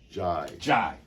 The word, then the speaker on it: Jai: Like Michael Jai White, Bruce would whip on you.